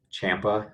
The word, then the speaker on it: Ciampa: linkedin so it's uh champa and the last name is spelled c-i-a-m-p-a uh and then i'm also